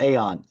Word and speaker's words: Eon: Spelled with EON, but pronounced Aeon.